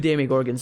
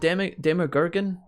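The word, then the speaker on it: Demogorgon: I said demi. Is it demogorgan? Demogorg? I said it wrong last time and he corrected me and I felt really bad. Is it? Oh, it's demogorgan, right? Not demi. Demogorgan. That's what it was.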